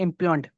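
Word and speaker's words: impugned: कि भाई ये जो जजमेंट दी गई इम्प्यून्ड, इम्प्यून्ड इसको बोलते हैं, प्रोनाउंसिएशन इसकी है इम्प्यून्ड, ये गलत है ऑन the facts and लॉ।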